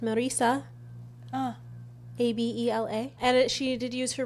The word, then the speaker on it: Marissa Abella: Yeah, Marissa Abella. Yeah, I don't know if she's Hispanic because if she is, it would be obviously pronounced Marisa. Abela.